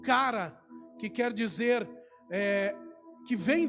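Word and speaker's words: χαρά: sobre a alegria essa alegria que no Grego é pronunciado como cara que quer dizer que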